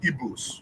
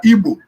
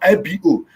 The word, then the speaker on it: Igbo: We are not Igbos. Okay. We are Igbo. Nothing like Igbo. Yeah. You people should begin to pronounce our name correctly. Not not IBO. IGBO. Igbo.